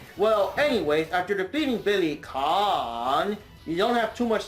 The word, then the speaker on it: Kane: of Fighters champion Billy Kane actually bro it's just pronounced Billy KH oh um right well anyways after defeating Billy con you don't have too